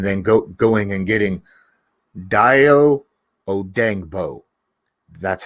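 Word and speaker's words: Dayo Odeyingbo: speed edge and then go going and getting daiyo odangbo that's how you pronounce his name but but he's not going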